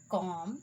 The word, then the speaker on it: comb: the B is silent, the letter B is usually not pronounced after M. Do you remember that? At the end of a word, like comb, bomb, thumb, climb, thumb, tom, crumb, and lamb.